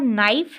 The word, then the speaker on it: knife: उसके बाद नाइफ है, KNIFE, नाइफ, तो इसमें हम के को साइलेंट कर लेते हैं, ठीक है।